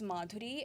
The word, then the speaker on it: Madhuri: is Madhuri, and like the Americans don't know how to pronounce the th. Right? They just don't know how to pronounce it. So they will be like Madhuri, Madhuri, Madhuri. And I would be like, no, it is Madhuri.